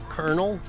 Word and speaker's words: colonel: up in the military colonel at least corn kernels spelled correctly the other one's spelled like colonel that sounds like hey